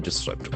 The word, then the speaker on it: disrupt: Why does rain disrupt? All the language properties can be expected. Disrupt. Disrupt. Accent for falls in the second syllable.